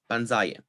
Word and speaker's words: panzaya: stem is underlyingly stressed so if we attach the stress deleting passive yeah to panzan we get stress on the penultimate syllable panzaya this is expected however we